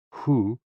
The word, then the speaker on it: hu: associated with the kidneys h-o-o pronounced like who which is associated with